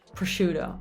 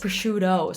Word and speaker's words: prosciutto: a little pause again in english prosciutto prosciutto oh oh that's really important the o at the end my friends oh my goodness prosciutto so that o movement we need to eliminate it completely okay the next one